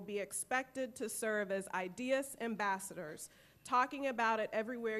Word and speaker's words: idUS: to make sure you know how to correctly pronounce the word so with that everyone repeat after me ideas all right you're well on your way so